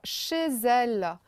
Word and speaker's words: chez elle: à vous faire alors Chezelle on fait une petite liaison là Chezelle on prononce comme un seul mot et ensuite n'oubliez pas